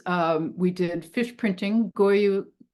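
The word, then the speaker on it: gyotaku: we did fish printing goyu well I think it's pronounced guu taku like a Japanese technique of printing the fish so all the kids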